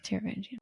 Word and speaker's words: Taravangian: No, it's Taravangian. Taravangian.